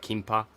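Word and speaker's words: 김밥: On page 28, it describes a Korean inspired gimbap. What they pronounce it kimpa.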